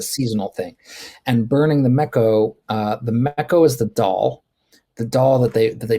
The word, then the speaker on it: Meco: Did I pronounce it right? Mecco?